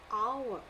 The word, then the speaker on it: hour: Now, first of all, this is a list of words where the H, in all these list of words, my H is silent.